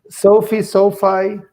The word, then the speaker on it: SoFi: I heard of Sophie or SoFi. How do you pronounce it? SoFi, tomato.